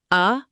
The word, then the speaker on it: adulterate: Adulterate, pronounced a-dul-ta-rate.